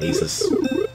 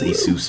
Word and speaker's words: Asus: my passionate for lemonade it's pronounced he suits not ASIS I'm so does ASIS but I was told it was a Seuss by someone so the Seuss it is gotta pretend like I'm